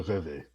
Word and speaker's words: Reveille: Oh, now that I know is the Reveille. Uh, No, it's technically pronounced Reve. It's French.